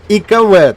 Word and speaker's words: Ikv: Отже, Ікв вірно читається, а не ЛКВ.